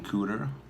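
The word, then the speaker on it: Kuder: Geppetto young guns variant Avengers one Aaron cooter yeah it rhymes with pooter and I can only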